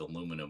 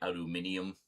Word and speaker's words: aluminium: Like, I think I'll just stick with aluminum on that one. Vitamins. That's just fun to say because it's just so pretentious a pronunciation. Vitamins. Need to get some vitamins. And some aluminium foil. But, the firmist is like, no. No. Have to say aluminium.